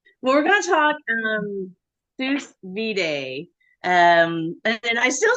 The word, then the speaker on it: sous vide: Well, we're gonna talk Sous Vide. And I still say, man, I practiced so hard and I still said it wrong. Okay. It looks like Sous Vide, but you pronounce it sous vide.